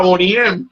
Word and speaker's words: Boney M: no mija Boney M. Boney as in bone M.